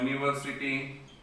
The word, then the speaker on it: university: Then third one, same way, the word, right, begin with U, but what sound is consonant. Sound is consonant. So that time we also use, for example, a useful animal, a university. See this thing? Understood? So U, but pronunciation is, it is U, but the sound Y is a what? Consonant sound.